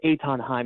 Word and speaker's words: Eithan Haim: It's pronounced Eithan Haim.